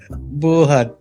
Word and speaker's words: Buhat: Stress. Buhat. Okay. Stress on the second syllable. Buhat.